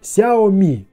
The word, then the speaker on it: Xiaomi: гарантия и конечно я спросил как же правильно произносить название компании на что был дан чёткий ответ Xiaomi Xiaomi что же мы имеем В итоге плюсы